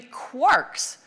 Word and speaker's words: quark: the illusion to three quarks seemed perfect. I needed an excuse for retaining the pronunciation quark despite the occurrence of mark, bark, and mark and so forth in Finnegan's Wake.